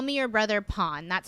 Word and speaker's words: Pon: If it comes at the end of a word, you pronounce it as an N. So that's why that happened. And so if you're looking for Pon's content from Superboy, some